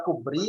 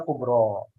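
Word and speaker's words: كبرى: Sama juga kubro, ini nggak mungkin dibaca kubri atau kubru. Kenapa? Karena ada huruf ya yang tanpa titik ini. Itu ya. Maka dibacanya kubro.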